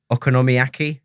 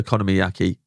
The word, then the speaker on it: okonomiyaki: Okonomiyaki, that's Yeah.